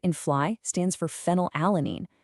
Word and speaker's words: phenylalanine: The F in fly stands for phenylalanine. Yes, I know it starts with a P, but phonetically it sounds exactly like an F, and biochemically, its official single-letter code actually is F.